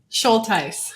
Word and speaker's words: Shultice: started uh recording was, how do I pronounce your last name? Schulties. Schulties.